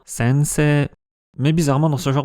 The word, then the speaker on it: sensei: Le mot pour professeur est francisé en sensei, mais la prononciation japonaise est bien sensei.